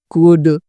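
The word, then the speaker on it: could: और यहीं पे ठीक किसी वोवेल लेटर के आगे एल आ जाए तो वो भी साइलेंट होगा, जैसे यहाँ पे पाम, कुड, वॉक, ठीक है।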